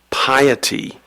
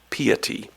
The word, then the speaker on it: piety: This word could be pronounced a couple of different ways. The word is piety. It could also be pronounced piety.